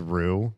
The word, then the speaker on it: Roux: It's pronounced rules card. Rules. Oh, because roux, like making a roux.